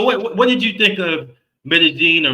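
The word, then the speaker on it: Medellín: Uh, and when you hear double L's, it almost sounds like a J in Spanish.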